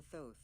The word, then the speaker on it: Thoth: Anubis, and birds for Thoth. Oh, it's pronounced Thoth.